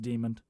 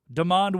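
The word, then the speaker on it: Demond: Not pronounced demon. Demand Williams.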